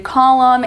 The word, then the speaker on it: column: final MN as in column and Autumn the N is silent at the end of these we have the initial